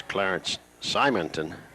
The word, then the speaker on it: Clarence Simonton: On that Henry County roster a while ago, I mispronounced one of the Martinsville City police officers' name. It's Clarence Simonton, number 88.